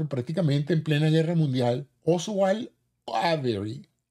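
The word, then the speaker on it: Oswald Avery: en plena Guerra Mundial oswal avery o oswal avery sería la pronunciación correcta demostró que la molécula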